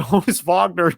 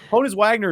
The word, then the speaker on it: Honus Wagner: one of the almost I almost said Honus Vagner just because it's spelled the same I'm in NBA mode Honus Wagner is one of the